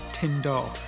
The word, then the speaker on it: Tyn Dwr: time we've been to tindor that's how you say it tindor apparently i'm absolutely stunning